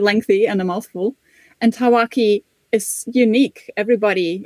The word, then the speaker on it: tawaki: going to be discussing the tawaki how's my pronunciation tawaki is perfect yeah what we knew about this